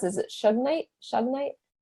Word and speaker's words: shungite: I don't know how to pronounce it. Is it Shugnite? Shungite? Shungite.